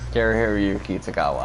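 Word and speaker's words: Cary-Hiroyuki Tagawa: Kari Hiroyuki Tagawa, I know. Yeah, okay. Shang Tsung. Okay, yeah, I did let's say get that right. The first time. They had both Mako Iwamatsu and Kari Hiroyuki Tagawa in that movie.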